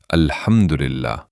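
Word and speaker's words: الحمد لله: پہلا لفظ جو الحمدللہ یہاں ل ساکن ہے، لیکن اکثر لوگ اس لام کے اوپر زبر پڑھتے ہیں۔ اس کا صحیح تلفظ یہ ہے الحمدللہ، نہ کہ الحمدللہ۔ الحمدللہ کہ جو لام ہے اس کا وہ ساکن ہے، اس پر زبر نہ پڑا جائے۔ ذرا سوچئے، جب نماز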